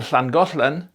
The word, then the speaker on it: Llangollen: And that hl is what you get in Welsh as the double L, as in Llangollen.